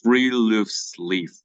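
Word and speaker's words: friluftsliv: in Norwegian called like we can pronounce as three Loops Leaf it is the Norwegian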